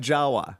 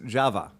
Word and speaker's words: Jawa: Because first of all, that's not how you say it. Oh, well that sucks. We call it Jawa. Yeah, they don't. Oh, it's Java.